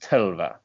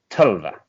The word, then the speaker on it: Tœlva: That's pronounced Tœlva. So that's T, and then the letter where it's like OE together at this, like one letter, but it's OE, and then LVA. So it's pronounced Tœlva.